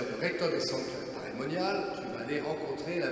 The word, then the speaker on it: Paray-le-Monial: première fois ce nom, j'ai cru que c'était Paris-le-Monial. Vous voyez une grande ville avec des moines à toutes les fenêtres. Vous voyez comme je suis très naïf. Non, ça s'écrit P-A-R-A-Y, Paray-le-Monial.